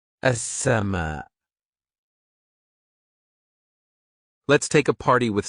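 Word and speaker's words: السماء: As-sama. As-sama.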